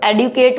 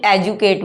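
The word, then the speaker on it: educate: एडुकेट, एडुकेट से बन गया एडुकेशन, कई लोग इसको एडुकेट बोलते हैं, कई एजुकेट बोलते हैं, ठीक है, वट एवर यू यूज।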